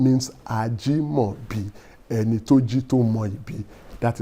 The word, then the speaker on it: Ajimobi: Some people mispronounce it and they say Some people will even say I Ajumobi. No, that is not the meaning of that name. The name means Ajimobi and Etu Jito Moibi.